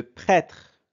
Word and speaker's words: prêtre: vipère elle est dangereuse toujours avec le Son e mais avec le graphè E accent circonflexe le prêtre prê et et prê le